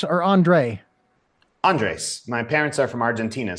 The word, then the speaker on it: Andres: Is it Andres or Andre? Andres.